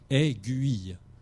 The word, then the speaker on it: aiguille: d'autres en d'autres cas le eu est vraiment une lettre qui se prononce aiguille ce que c'est clair